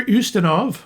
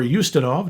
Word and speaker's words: Ustinov: Peter Ustinov, or Ustinov, depending how you want to pronounce it, who is in